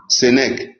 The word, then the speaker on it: Sénèque: Sénèque, là, ça s'écrit comment? S-E-N-E-Q-U-E. Sénèque.